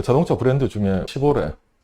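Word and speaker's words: Chevrolet: 시보레 철자를 보면은 영어로 읽으면 도저히 이게 시보레라는 발음이 나올 수가 없습니다. 미국 애들도 그냥 쉐비 그러고 끝냅니다. 근데 잘 찾아보면 그 철자가 원래 프랑스어입니다. 불어로 읽으면 정확하게 시보레 발음이 나옵니다.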